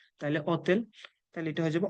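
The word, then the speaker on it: hotel: তার মানে আমরা যদি আক্কাটা আছে ঠিক আছে কিন্তু আমরা যদি উচ্চারণ না করি তার মানে এর পরেরটার উচ্চারণ করতে হবে তাইলে অতেল তাইলে এটা হয়ে যাবে অতেল অতেল মানে হোটেল যেখানে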